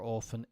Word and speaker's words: often: P I would say if you say often or often it sometimes depends on how quick or where it comes in your sentence absolutely um fine to say often often yeah absolutely the the the two are fine okay I was saying